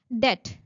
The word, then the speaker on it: debt: Debt debt night. K here is silent. Similarly, B in debt is silent.